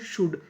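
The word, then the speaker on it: should: और आखिरी में ऐसे इंटेंशंस इंटेंशंस इंटेंशंस इंटेंशंस का मतलब होता है इरादे एस एच ओ यू एल डी इसे पढ़ते हैं शुड यहां पे जो हमारा एल है वो साइलेंट रहेगा शुड का मतलब होता है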